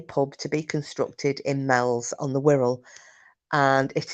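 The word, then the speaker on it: Meols: and when I watched this I thought actually I know about this um it's a place called Mel's on the Wirral which is spelled m-e-o-l-s there's also a place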